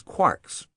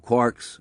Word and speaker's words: quark: Discriminating physicists rhyme the word with storks, not larks, even though the latter is almost certainly the pronunciation Joyce had in mind. The fundamental simplicity of quarks was not long-lived.